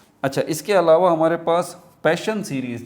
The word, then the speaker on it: Paschen: अच्छा, इसके अलावा हमारे पास पैशन सीरीज़, जिसको हम पास्चिन सीरीज़ भी कहते हैं, ये तीसरे नंबर पर है। कुछ लोग इसको पास्चिन सीरीज़ कहते हैं, पास्चिन सीरीज़। एक्चुअल इसकी प्रोनाउंसिएशन क्या है? Passion series.